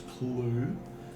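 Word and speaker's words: Kelu: who we found out his name was Clue. Still with a K. It's a K E L U.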